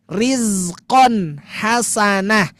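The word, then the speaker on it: رِزْقًا حَسَنًا: Atau yang ini juga sama bukan nun yang bertemu tapi fathatain berarti sama bacanya rizqon hasanah. Rizqon hasanah bukan riqon hasanang bukan tapi rizqon hasana gitu.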